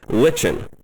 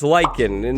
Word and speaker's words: lichen: the brand new glow lichen oh okay okay it's lichen not lichen i wanted to say it